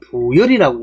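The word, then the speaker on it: 傅說: 이윤이란 사람과 그 다음에 부열이라는 사람이 있습니다 붙자는 스승 부자에다가 기쁘다 할 때는 열 말씀하다 할 때는 말씀을 발리를 새해 갖고 세 가지로 있지만 사람 이름은 부열이라고 읽어야 됩니다 자 그래서 주나라에는 개국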